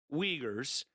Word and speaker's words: Uyghur: China is forcing hundreds of thousands of Uyghurs. So Uyghurs are a Muslim minority population in Western China. It's spelled Uighur, Uyghur, and other minorities into hard